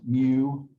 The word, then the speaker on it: mu: or so what's that it's this greek letter pronounced mu again it's annoying that they use greek letters